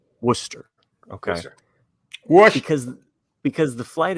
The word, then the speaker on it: Worcester: Did I pronounce it right? Worcester. Okay. Worcester. Because the flight attendant who was making the announcement murdered it. And wash your sister.